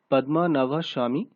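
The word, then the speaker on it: Padmanabhaswamy: Actually সঠিক প্রোনাউন্সিয়েশনটা হচ্ছে পদ্মনাভ স্বামী টেম্পল is situated।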